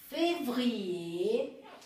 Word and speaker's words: février: Quando a palavra termina por R, você também não pronuncia. Então, vocês têm aqui janvier, février, dossier e changer.